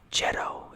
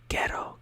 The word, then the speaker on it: ghetto: think Italian maybe but you say GH not jedo you don't say ghetto you say ghetto ghetto I don't know